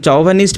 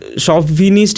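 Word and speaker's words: chauvinist: মানে অরাজকতাবাদী যে, অ্যান্ড চৌভানিস্ট মানে কি চৌভানিস্ট না, এটা শভিনিস্ট এরকম হয় উচ্চারণটা, ঠিক আছে, CHAU চৌভিনিস্ট না, উচ্চারণটা যদি কারেক্টলি উচ্চারণ করি শভিনিস্ট এরকম হয়, ঠিক আছে উচ্চারণটা।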